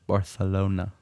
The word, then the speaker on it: Barcelona: No, Barcelona. Oh, you put a little Yeah. lisp in there? You got it. Barcelona. Yeah, it's a lisp. Yeah, that's how they say it.